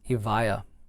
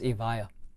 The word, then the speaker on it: Evija: six nine zero seven the lotus evaya or avija or the vijaya is what i've been pronouncing it for so long but now i'm an idiot and i realize that it's avaya this retails at twenty